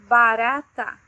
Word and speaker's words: barata: When there is just an R, uma letra R, in the middle of a word between two vowels, the sound is different. It sounds like r, r, as in barata, barata, cockroach, barata.